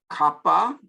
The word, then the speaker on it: kappa: Kappa is a small k, easy enough, and pronounced k, as in English, like an English K, kappa.